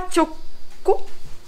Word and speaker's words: 猪口: イノシシ、イノシシの口と書いてチョコと言います。